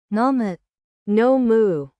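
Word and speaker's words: nomu: No. Moo. N O M U. I drink water. No moo. Say no more when you drink too much.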